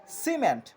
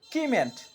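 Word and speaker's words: cement: সিই এমই এন টি আমরা এটাকে বলছি সিমেন্ট অর্থাৎ এখানে সির উচ্চারণ ছ এর মত হচ্ছে আমরা কিন্তু কোনভাবেই বলছি না কিমেন্ট অন্যদিকে যখন সি এর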